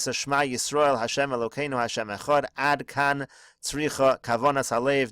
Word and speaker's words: Echad: Anybody who lengthens his pronunciation of the word Echad, he will have long days and long years.